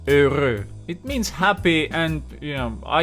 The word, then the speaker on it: heureux: like that, and just keep in mind that EU usually becomes an E, and that's the first thing, you never pronounce the letter H, then you will have a simple pronunciation heureux, heureux.